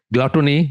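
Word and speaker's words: glutton: গ্লাটন কথাটা সেখান থেকে আমি জানতাম গুটন কিন্তু পরে দেখলাম অনেক আগে আর কি তখন দেখলাম যে শুদ্ধ উচ্চারণ হচ্ছে গ্লুটন আসলে গ্লুটন না এন্ড ডিজায়ার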